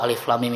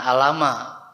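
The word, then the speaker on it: الم: surat al-baqarah minimal tahu alif.lam.mim itu apalah ya kan Hai ini bacanya Alif Lam Mim Oh ya cara bacanya begini bukan alamat karena yang bacanya pakai Iqro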